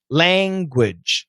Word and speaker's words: language: it makes it easier so language is actually a long a like angry and shane name language and the rest is a schwa language language that's how we pronounce it in america world well now elena